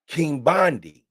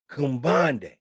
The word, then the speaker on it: Quimbande: It, and the word is Kimbandi. Kimbandi. And that's spelled Quimbande. Kumbande.